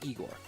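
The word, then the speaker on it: Игорь: igor and igor uh the pronunciation of of of igor is sounds like jagor and i with an i sounds like igor just to let you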